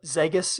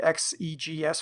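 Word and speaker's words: XEGS: kind of fresh eyes I don't call it zus it'll always be X EGS for me um more syllables but doesn't sound as silly I I have some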